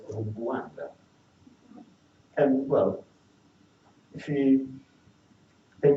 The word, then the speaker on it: Rwanda: So for example, the cluster R plus W is pronounced Rwa. Like there's a G coming into it. So actually the name of the country should not be pronounced Rwanda, but Rwanda.